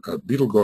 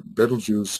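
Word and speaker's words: Betelgeuse: of which it is a part just like Beetle go or bju however you want to pronounce it uh can represent the entirety of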